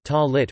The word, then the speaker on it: tallit: In modern Hebrew, the word is pronounced tallit with the stress on the final syllable.